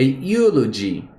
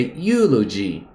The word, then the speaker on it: eulogy: um outro exemplo aqui um elogio an elogy a elog pera acho que falei errado um elogio a eulogy a eulogy certo esse elogio aqui esse